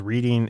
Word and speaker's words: Reading: who said reading market, but it's pronounced like he was reading a book. Reading. But he pronounced it like he was reading a book. It's actually Reading.